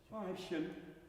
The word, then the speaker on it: Weibchen: It's just making sure that you know that the last syllable, Weibchen. So it's present, but it's not sung, if that makes sense.